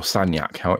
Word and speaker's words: Sagnac: The Sagnac experiment, or Sagnac, if you want to pronounce it the way that the French say it, it's not easy to